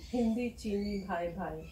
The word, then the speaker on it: Hindi Cheeni Bhai Bhai: Hindi Cheeni Bhai Bhai.